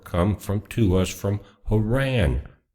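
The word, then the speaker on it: Harran: from to us from Haran. Not Iran but Haran.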